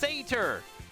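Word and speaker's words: satyr: The internet says it's pronounced sater.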